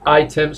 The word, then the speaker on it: items: bueno, sigue significando, y items son artículos, ¿vale? Lo veíamos también ayer, desk, items, desk, tal cual, items, no, items, se pronuncia I, porque la I se convierte en I, sonaría desk items.